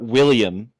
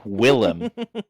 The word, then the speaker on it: Willem: Not William. It's Willem.